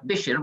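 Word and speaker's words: بِشْر: And the problem was with the Arabic word bishr, which if it's pronounced with a kasrah, bishr, which is what it's supposed to mean, it means grated coconut.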